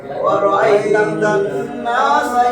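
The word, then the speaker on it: وَرَأَيْتَ النَّاسَ: ওয়া রাআইতান, রাআইতান, রাআইতান ওয়াজিব গুন্না, নুনে মিমে তাসদীদ হইলে গুন্না করা ওয়াজিব। ওয়া রাআইতান নাসা, এক আলিফ টান মদের হরকত, মদের হরফ। ওয়া রাআইতান নাসা ইয়াদখুলুনা ফি পাতলা করে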